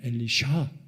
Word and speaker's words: 엘리사: 엘리사의 이름의 정확한 발음은 히브리 발음으로 엘리샤입니다. 엘리샤.